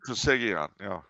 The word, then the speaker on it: Trisagion: Trisagion, yeah.